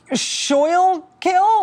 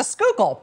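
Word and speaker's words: Schuylkill: this River which looks like it should be pronounced shil kill or maybe Sky kill and if you can say it right if you can look at that and say oh yeah the skookul boom you're from Philly easy well right now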